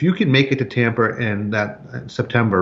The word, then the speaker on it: Tampa: You said Tamper here a second ago. You give me a hard time about my... Yeah, you pronounced your R's, but you add R's where they don't belong.